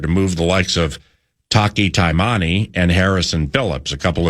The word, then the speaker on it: Taki Taimani: Ohio State, can fluidly move the likes of Taki Taimani.